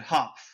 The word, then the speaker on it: Hopf: it and he said hop the way that it you read it like it's written hop that's how the Germans say it and we here in